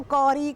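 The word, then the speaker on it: curry: ये बन रही है, करी नहीं है, अंग्रेज़ी वाली करी नहीं है। और बहुत से लोग करी को कौरी करके प्रोनाउंस करते हैं, वो भी गलत होता है, अंग्रेज़ी में करी कहते हैं।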